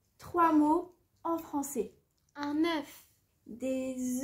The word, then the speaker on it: œuf: œuf vole un bœuf la consonne finale des mots boeuf œuf et os et prononcer au singulier mais ne les généralement pas au pluriel on dira des œufs